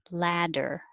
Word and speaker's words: ladder: 13 could be spelled with a T or a D, but they sound the same. Ladder. Make a good ah.